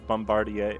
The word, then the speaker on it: Bombardier: the golden Bose influence you did the French pronunciation thing like Bombardier oh no because that's how that word is meant to be pronounced I thought Apple oh